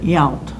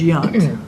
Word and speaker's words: Yount: baseball player who retired only they pronounced it yount what's this robin robbing out we knew it as young got a couple comments